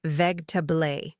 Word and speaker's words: vegetable: I hear people saying ve all the time, putting the stress in the wrong place and pronouncing every single letter. But the real pronunciation is veg. We completely drop that middle syllable and make it flow like one smooth word.